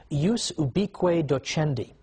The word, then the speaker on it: ius ubique docendi: there was something called, in Latin, and I'm using the church pronunciation, ius ubique docendi, which literally means the right of teaching everywhere.